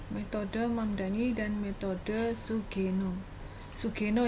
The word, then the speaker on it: Sugeno: mamdani dan metode sugeno sugeno ya bacanya Ya orang Jepang ini bukan orang Jawa bukan sugeno bukan sugeno nah mungkin anda juga masih